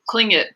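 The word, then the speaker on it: Tlingit: was a clingit indian pronounced clingit proudly with a clicking of his tongue as if saying cling kit he was built like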